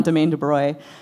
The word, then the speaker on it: Domaine de Broye: And he came back with this, and the first question is, how do we pronounce this? So we agreed on Domaine de Broye.